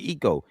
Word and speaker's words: IKOE: So Eco, IKOE. I said it right, Eco.